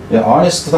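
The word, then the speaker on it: honest: 영어에서 이 H자는 묵음이 되는 경우가 되게 많아요. 아워도 마찬가지고 아너도 마찬가지고 이렇다는 얘기죠. 시간할 때도 그 명예 영광할 때 아너도 역시 마찬가지. 그래서 어니스트도 마찬가지죠. 정직할 때도 그래서 이 음가에서 그놈이 죽어버린 경우라 하는 거예요.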